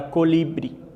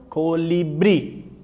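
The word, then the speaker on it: colibrí: Se vocês observarem aqui, ó, no primeiro haikai, ó, Rocio colibri, Rocio colibri. A sílaba tônica está onde? Na última sílaba.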